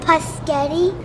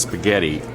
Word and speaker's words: spaghetti: Can I please have the paschetti? Excellent choice, and it's pronounced spaghetti.